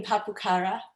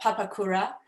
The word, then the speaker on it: Papakura: tanare was born in papukara i mispronounced that papakura and raised in south